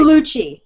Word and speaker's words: Gugliucci: Gugliucci.